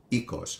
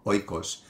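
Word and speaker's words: οἶκος: teach is the word for home which is ecos or Oikos for those of you that study ancient Greek through the erasmine pronunciation although modern Greeks also use the word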